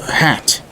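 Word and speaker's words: Hatt: Hat, is it? That is how it's pronounced, right?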